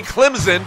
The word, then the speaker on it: Clemson: the Clemson Tigers and I did say Clemson pronounced with a z the Clemson Tigers number